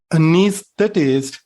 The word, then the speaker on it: anesthetist: Anesthetist, the knees particle here, knees. This syllable is stressed, anesthetist.